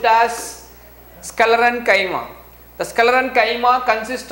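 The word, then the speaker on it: sclerenchyma: chemo please listen carefully it has to be pronounced as scalar and chyma the scalar and chima consists of thick walled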